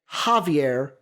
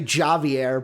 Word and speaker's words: Xavier: And then at the 35th pick, Javier Gilman. It's Javier because of the J, like, unless you want to say Javier, but it's Javier is how you say it.